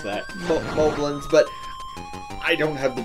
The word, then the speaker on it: Moblin: Moblins, but I don't have the best track record with pronouncing things in Zelda games correctly. So I think they really are Moblins, kind of like goblins, but I've been saying Moblins all my life, so.